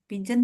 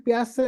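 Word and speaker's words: Piaget: hmm, Tokoh utamanya Pigeon tadi bukan? bacanya Piase, Bu ya, jangan Pigeon.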